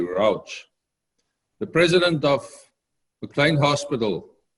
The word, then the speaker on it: Rauch: I also read this week, and somebody sent it to me, a statement by Dr. Scott Routh, or the American pronunciation would probably be Rauch, the president of McLean Hospital in Boston.